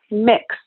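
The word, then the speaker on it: Mx: They say Mix Alex. Pronounced like the word mix, like Chex Mix, kind of cool.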